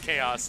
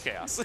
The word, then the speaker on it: Khazous: So it's Khazous. The name was weird to pronounce earlier. But the TO McBee just said he said chaos and chaos. Was like, ah, that's probably right.